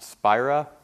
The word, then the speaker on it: Spira: in the right direction my name is spira it's pronounced spyra i'm with phase 2